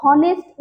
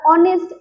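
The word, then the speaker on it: honest: রাখবে যেখানে H silent, when h is silent, যদি কোনো সেন্টেন্সে কোনো ওয়ার্ডের আগে এইচ রয়েছে এবং এইচটা সাইলেন্ট রয়েছে, আমরা অনারেবল বলি না, আমরা হাওয়ার, হনেস্ট বলি না, আমরা অনেস্ট, অনারেবল, আর এগুলোকে বলি।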